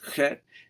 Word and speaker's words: Chet: So this is the Hebrew letter Chet, which means it's like the CH, but the C is silent, so it's Chet.